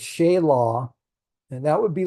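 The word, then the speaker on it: Shelah: strong and then Shaya it's not Sheila it's Shaya and that would be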